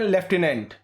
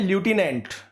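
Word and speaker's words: lieutenant: देखिए जिसको हम हिंदी में बोलते हैं लेफ्टिनेंट लेकिन बोला जाता है लुटिनेंट जो लुटिनेंट है उसकी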